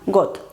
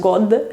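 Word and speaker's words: год: ghost que es año got se escribe con d pero no es gold sino ghost lage pasarse por ejemplo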